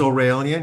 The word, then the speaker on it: Aurelian: Um my name is Aurelian. It's pronounced uh like Australian.